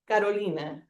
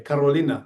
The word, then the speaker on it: Carolina: And my my name is Karolina. Yeah, right. And she said it right, by the way. Carolina.